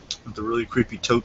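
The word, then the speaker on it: Toht: We're gonna have the really creepy tote scene coming up. I think it's pronounced Tot. Oh, Tot? I'm pretty sure.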